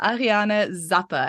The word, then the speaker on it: Ariane Zappe: we have a very special guest with us Ariana Zappa and I've probably said your name wrong now so you'll have to say it